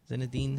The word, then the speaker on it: Zinedine: How do you pronounce his first name? Is it Ange Zinedine? Is that what it is? Zinedine? Yeah, you got it. Zinedine?